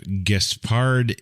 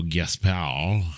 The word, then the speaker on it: Gaspard: Gaspard, so Gaspard. Yes. Right. Right? No, you don't say the D, you fool.